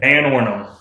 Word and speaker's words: Vanornum: How would you like to pronounce it correctly? Vanornum.